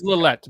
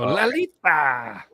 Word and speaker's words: Lilette: It's Lilette, but I always go Lalita. Okay, I say it wrong, and she's cool with it.